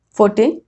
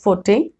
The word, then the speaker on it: forte: There is another word, forte. Now this word is pronounced in British English as forte, but in American English it is called as fort.